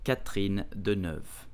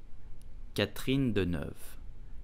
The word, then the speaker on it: Catherine Deneuve: You will pronounce it Catherine Deneuve. Catherine Deneuve. Catherine Deneuve.